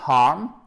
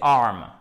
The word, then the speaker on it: arm: À savoir ici que déjà, vous n'avez pas de H aspiré, ce n'est pas harm, ok? Ce n'est pas harm, parce que harm. Comme ça veut dire faire mal, ok? Harm, c'est différent, ok? Ça, c'est un verbe qui a un sens différent. Ici, c'est arm. Le bras, c'est A2.